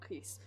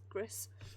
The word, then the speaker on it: Gris: However, Gris, I think it's pronounced, not Greece, as I keep wanting to say it. Gris.